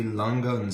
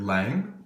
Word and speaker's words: Lange: here I have the a longa Sona uh Richard Lang watch um I think that's how you pronounce the name in my sort of bad American German most people here just called them Lang um so we'll call it the Richard Lang from Lang or longa um this is a